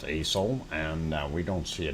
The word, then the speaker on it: Aso: and that is uh spelt aso and pronounced aeso and we don't see